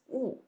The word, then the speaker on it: 雾: So the lower part, standing on its own, it also pronounces 雾, right? This one, 雾, fourth tone, it means fog.